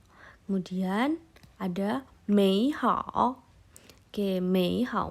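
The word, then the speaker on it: 美好: Kemudian ada mei hao. Oke, mei hao. Mei nada 3, hao nada 3. Mei hao. Kalau seperti itu dibacanya terlalu panjang. Jadi kita pelafalannya dirubah menjadi mei hao.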